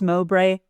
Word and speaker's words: Mowbray: Is it pronounced Mowbray?